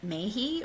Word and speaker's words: Mahy: I might mispronounce her last name. She's from New Zealand. Her name is Margaret Mahy or perhaps Mahi.